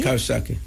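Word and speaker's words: Coxsackie: And then C O X S A C K I E Kaki uh and also Adi Adandak Adak and Fish Fisk that was the last facility I was in before I came.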